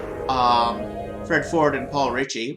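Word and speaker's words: Reiche: Fred Ford and Paul Ritchie which is how I know he pronounces it Richie not right or right or anything like that um yeah you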